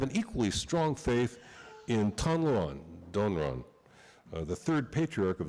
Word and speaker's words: Tanluan: It's not Donran, it's Tanluan.